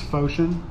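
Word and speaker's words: Phocion: your name and Anthony okay my name is Foshan Foshan p-h-o-c-i-o-n -out my last name is be good it's spelled kind of how it sounds duh good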